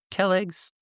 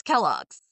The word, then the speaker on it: Kellogg's: yesterday and discuss them over a bowl of Kelligs cornflakes and Winston cigarettes.